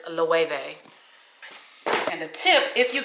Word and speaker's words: Loewe: I know a lot of people think it's like pronounced low, but it's Loewe.